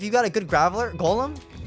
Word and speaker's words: Golem: a good graveler golem golem no it's golem i was watching a video about video my name is pronounced wrong it's a dumbass video to be honest it's like overpronating everything like no one says that no one says that no but he said gollum and i'm like i